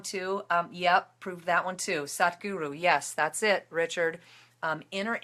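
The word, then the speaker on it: Sadhguru: His name is Sat Guru. It's spelled S-A-D as in sad, which is really funny. H in the middle, and then guru.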